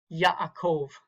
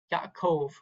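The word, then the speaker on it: יעקב: Or Yaakov, Yaakov. Okay, it's going to be on the last syllable there.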